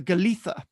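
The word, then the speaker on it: Golitha: river tumbles in a fine Cascade known as a glia Falls pronounce the galtha um is derived from the Cornish word for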